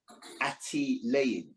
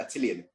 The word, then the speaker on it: Attilayan: I'm still doing my education services company, and it's actually pronounced Attilayan. I know it's called Attilian. It's Attilayan Educational Services.